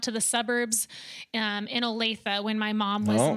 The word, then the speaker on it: Olathe: of his years wow Olathe that's one of those you gotta be from the area to pronounce that correctly you can tell people aren't from there exactly by that word they'll call it Olaf yeah that's right Olathe